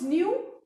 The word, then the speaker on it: knew: And the eighth one, Paras knew all the answers. And remember children, in this word knew, the present and the past form, K is silent.